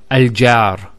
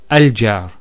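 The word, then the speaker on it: الجار: So we pronounce this as al-jar. So notice the sound in the beginning, a, al-jar. That a sound, which in English is called a glottal stop, a, is actually the hamza.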